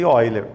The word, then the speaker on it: Euler: Só que tem algumas pessoas assim que gostam de usar o nome que ele tem origem francesa, que a gente chama de Euler, mas tranquilamente, se você errar a pronúncia e ler exatamente como se escreve sem nenhum problema.